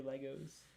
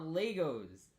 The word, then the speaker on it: LEGO: in the audience those it's not how you say it they're not legos they're lego that's a billion dollar mistake right there you know i want